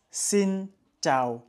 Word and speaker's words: Xin chào: donc ça se prononce sin Cho en fait sin sin c'est un accent neutre et Cho c'est un accent qui descend donc c'est il faut bien descendre sino et en fait